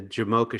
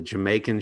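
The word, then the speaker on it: Jamocha: say arby's in the jamoka shake is one of my favorite food items sometimes mispronounced as the jamaican shake because i did work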